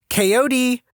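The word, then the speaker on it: KOD: Coyote, my mother called. The dog's name was K-O-D, though we pronounced every letter.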